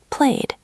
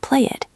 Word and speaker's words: played: Played. Played. It is not play it. It is played.